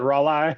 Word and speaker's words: Raleigh: No, Raleigh, North Carolina, and you pronounce it Raleigh.